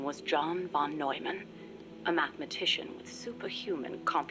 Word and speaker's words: John von Neumann: His name was John von Neumann, a mathematician with superhuman computational I thought you pronounced it abilities Newman.